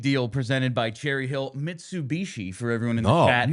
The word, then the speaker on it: Mitsubishi: Yeah, that's I just I have to really think about Mitsubishi. Mishabishi. No, can't say it like that. They are a sponsor. Need to say it correctly.